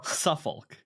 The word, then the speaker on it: Suffolk: how you say it suoc s suol shul Suffolk thank you you can say it um so